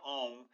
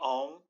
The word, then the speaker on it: om: about the Mantra om there are actually three syllables to the Mantra there is the first syllable the ah portion to the second syllable the O portion and then the third part the um and technically there is